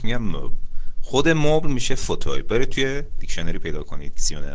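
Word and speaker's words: fauteuil: ها به مبل میگن فوتوی، F A U T E U I E L که ادش هم تلفظ میشه فوتوی، به فوتوی میگن مبل.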